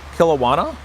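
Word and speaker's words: Kelowna: A 16 stall in Newark, New Jersey, and two 16 stalls in Canada at Kilawana, I believe is how it's pronounced, British Columbia, and Milton, Ontario.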